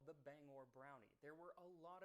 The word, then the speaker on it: Bangor: of song explaining that it is pronounced Bangor, not Banger.